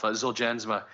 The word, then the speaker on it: Zolgensma: the manufacturer that uh novartis said the the g's g is pronounced as a j but i i have to say it took me a long time to to say it properly myself zuljansma uh the the overall